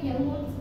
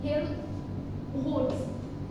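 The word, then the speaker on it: Helmholtz: কতটুকু work done হয়েছে that is হেলমহোল্টজ এমটা silent হেলমহোল্টজ কি বলে এটারে ফাংশন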